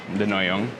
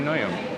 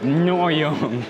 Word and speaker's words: Ngohiong: - Nyohiong. I said it right. - It's because there's no "ng" in France.